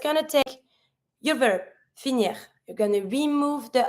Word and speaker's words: finir: whatever, finishing with R, you always pronounce the R. So here, to finish, finir. And you pronounce the R. The R has to come from the throat, not finir, finir.